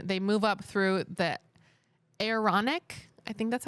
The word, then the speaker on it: Aaronic: They move up through the Aaronic, I think that's how you say it, priesthood ranks.